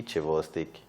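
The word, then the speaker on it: Chvostek: to represent this symptom and fortunately it rhymes with cheek so you see chivo stick remember cheek whenever you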